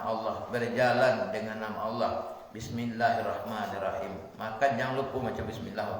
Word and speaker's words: Bismillahirrahmanirrahim: Bis itu dengan sin. Sinnya itu bahasa Minang balasia gitu. Bis, bis, jangan bis, jangan bis, gitu kan. Kemudian Bismillahirrahman, rahnya itu ha.